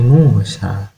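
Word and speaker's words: موسى: Kemudian Musa juga sama, di bagian belakangnya ada alif maksurah, berarti sinnya dibaca panjang. Li Musa, Musa ya.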